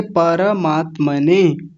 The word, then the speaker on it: परमात्मने: सा यहां ध्यान रखिए पर मात्मने पर नहीं पर ऐसा बोलना है बात समझ में आ रही है बोलिए जी सर हां तो एक बार फिर से बोलिए परमात्मने परमात्मने बस इस बात